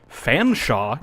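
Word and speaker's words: Featherstonhaugh: if you're going to go ahead and tell me that the name that's spelled Featherstone is pronounced Fanshawe, you can go fuck yourself.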